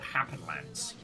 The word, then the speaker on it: Happenlance: we're playing today is called happen Lance as in like happenstance with a lance which does because of